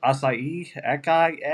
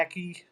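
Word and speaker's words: açaí: Acai, Aki, ACAI.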